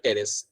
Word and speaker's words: टेरिस: है एक और example, that is your टेरिस, पी यहाँ पे साइलेंट होगा, ठीक है।